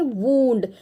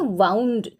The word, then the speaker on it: wound: एक इंजुरी हुई है तो इसको हम बोलते हैं वूंड. WOUND वूंड इसका प्रोनाउंसिएशन है. लेकिन यहाँ पर आप देख रहे हैं कि रस्सी को जो है ना गोल गोल घुमा के रखा हुआ है तो इसकी भी स्पेलिंग क्या है? WOUND. लेकिन इसे हम कैसे प्रोनाउंस करेंगे? हम प्रोनाउंस करेंगे वाउंड.